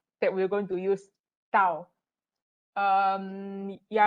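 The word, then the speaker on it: 道: uh the word that we're going to use tao um um for your information my i studied pasta chinese highlighter cow is actually the pronunciation so upper et dao uh downing a tenure natural order natural order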